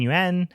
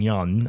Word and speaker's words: Yeun: Uh uh Steven Yuen uh who um we just talked about in uh Mayhem. Um or Steven Young, I think is the way you say it.